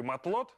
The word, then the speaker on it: матлот: Слушай, ну раз уж я начал говорить о рыбе матлот, так давай ее приготовим. Хотя в рецепт мы, конечно, точно не попадем, но будем к этому стремиться. Слово французское. А слово-то французское. Последняя буква не читается.